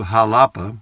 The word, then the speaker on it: Xalapa: the Mexican state of Jalapa, it's spelled Xalapa, but it's pronounced Jalapa, I guess, or Jalapa, then you are a jalapeno, same name as the pepper.